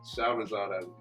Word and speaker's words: Shahrazad Ali: Shahrazad Ali.